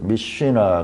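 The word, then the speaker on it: משנה: 미쉬나 하는 것은 거꾸로 있잖아요. 이게 M, 영어로 치면 M이고 이게 S예요. S. 쉬. 이게 N. 이게 흐 발음이에요.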